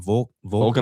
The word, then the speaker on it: Volkanovski: Volkanovski.